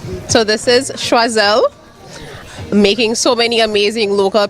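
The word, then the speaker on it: Choiselle: So this is Schwazelle making so many amazing local products.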